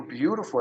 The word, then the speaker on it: beautiful: Então, o T do beautiful é R.